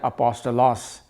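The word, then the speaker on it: ἀπόστολος: And apostle का यूनानी भाषा में जो प्रोनाउंसिएशन है वो है अपोस्टलॉस, यानी कि ग्रीक भाषा में जिसमें कि ये पत्र लिखा गया अपोस्टलॉस।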